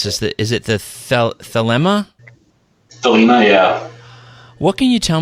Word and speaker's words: Thelema: Now, I'm not sure how to pronounce this. Is it the Thelema? Thelema, yeah.